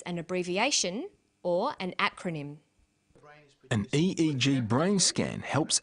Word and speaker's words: acronym: This form of abbreviation is called an acronym. With an acronym, we don't pronounce the individual letters, we pronounce it as a word. So we say IELTS, not IELTS.